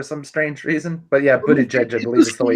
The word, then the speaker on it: Buttigieg: By the way, apparently his last name is pronounced Buttigieg or something like that. Yeah, apparently Styx mispronounces it on purpose for some strange reason. But yeah, Buttigieg, I believe is the way you If say you it.